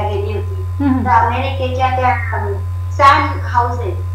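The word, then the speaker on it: San Jose: अमेरिकेला मी कॉन्फरन्सला गेली होती, तर अमेरिकेच्या त्या सॅन हाऊजे, सॅन जोस असं त्याचं स्पेलिंग आहे, पण सॅन हाऊजे असा उच्चार आहे.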